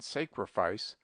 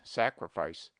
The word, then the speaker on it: sacrifice: He invariably says sacrament and sacrifice with a very long A, but analogy is against him. We pronounce sacred with A long, sacred, but the derivations are properly pronounced with A short, sacrament, sacrifice.